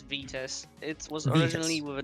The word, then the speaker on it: Vitas: right sorry we're about talking all right uh go ahead and enter how do you did i say that right or is it vitus uh it's it's it's vitus it was originally with a w but no